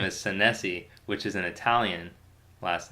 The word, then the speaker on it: Senesi: sensei but my my last name is san se which is an Italian last night I think it's actually pronounced na z is what sometimes Italians tell